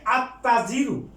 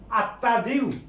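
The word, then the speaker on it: التاجر: যেমন আর তাজিরু, ব্যবসায়ী, আর তাজিরু, এটা হুরুফে শামসিয়া, এই তা হুরুফে শামসিয়া, এই জন্য লামের উচ্চারণ হবে না, সরাসরি আত্তাজিরু, আত্তাজিরু, ব্যবসায়ী।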